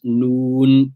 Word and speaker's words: نون: So when you pronounce noon, you'll feel the air flow through the khayshum, the nostrils. You will not feel that through the lam. So this is a difference between the noon and the lam in pronunciation.